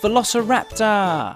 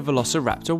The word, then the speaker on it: Velociraptor: Tyrannosaurus Rex let's learn all about Velociraptor Y how do you say that again V Lo rapor sometimes they were just called Raptors Velociraptors were